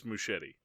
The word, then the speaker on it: Muschietti: Andres Muschietti would be the Muschietti. Muschietti. So there's no idiot. Yeah. There's no Ieti there, no. All right. It's Muschietti.